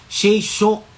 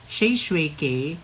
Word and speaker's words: Shae Shue K: Wag nang ipilit yung Shay Shok, mga shwik, mga, ay, nako. Diyos ko. Oo ha, ganon. Pero yun lang talaga, isang Grab driver lang talaga, tama talaga yung pagbigkas ng kanyang bibig at yung pangalan ko. Sabi niya, hello po. Ay, sabi ko, hello po. Sabi niya, Shay Shui K.